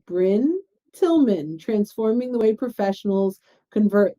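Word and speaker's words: Brynne Tillman: get brian brining br how do you pronounce your name and it's bryn tillman so i learned from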